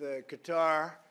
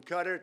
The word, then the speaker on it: Qatar: And with Bahrain and with Qatar, there's 6 different ways of pronouncing that, from Qatar to Qatar, right? There's many, many ways of pronouncing it. All of them are acceptable.